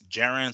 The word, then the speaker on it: Jaron: It was main evented by the IBF welterweight champion Jaron Ennis. Hopefully, I pronounced his name right because sometimes it's Jaron, sometimes I think it's Jerome, sometimes it's Jaron,